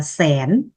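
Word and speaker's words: ແສນ: Còn từ 100.000, 100.000 tiếng Lào nói là xén. Xén là 100.000.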